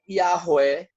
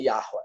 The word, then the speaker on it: Yahweh: Mas se lê assim, Yahweh, Yahweh. Na verdade, ela sai da garganta aqui, tá certo?